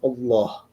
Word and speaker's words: Allah: And and it's pronounced Allah.